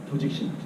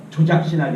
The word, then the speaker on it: 조직신학: 조직신학. 발음을 잘해야 돼요. 조작신학이 아니고 조진신학이 아니고 조직신학입니다.